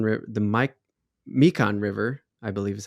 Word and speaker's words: Mekong: river now since we're there it was the mekong river the mike mekan river i believe is how you say it